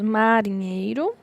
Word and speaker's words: marinheiro: Qual é a mais forte? Então, temos marinheiro.